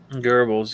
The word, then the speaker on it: Goebbels: Goebbels, yes.